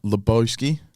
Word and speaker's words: Loboski: control right welcome back everyone I'm joined with laosi did I say it right got right yes